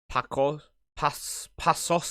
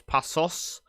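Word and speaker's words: Paços: Pasos, isn't it? Because the C with the S. So it's Pasos de Ferreira.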